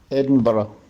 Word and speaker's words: Edinburgh: In England, you'll usually hear Edinburgh, Edinburgh. But in Scottish accents, R can be pronounced with a tap of the tongue, R. Listen. Edinburgh, Edinburgh, Edinburgh.